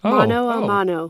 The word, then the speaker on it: mano a mano: Mano a mano.